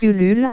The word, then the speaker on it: Ulule: Et le seul moyen de se procurer les BD, c'est sur leur page Ulule. Je sais pas comment on le prononce. On le prononce Ulule, connasse.